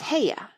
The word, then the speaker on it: Haigha: His name is Heya." He pronounced it so as to rhyme with mayor.